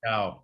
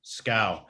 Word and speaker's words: Schou: Sorry, I should have said it's actually pronounced Schou. Schou.